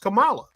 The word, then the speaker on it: Kamala: in 2016 her name is Kamala her it's pronounced Kamala it's spelled the same way her name is